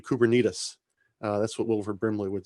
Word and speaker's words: Kubernetes: If you take only one thing away, I think the correct pronunciation is actually Kubernetes.